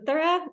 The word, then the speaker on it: Aura: your name correctly yeah it's pronounced Aura it's a hard name thank you Aura for